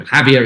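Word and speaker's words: Jávea: There's one in Javier. There's one actually. It's like 5 minutes. There's a couple. Yeah. I mean, you just have to type in Javier. Is spelled Javea.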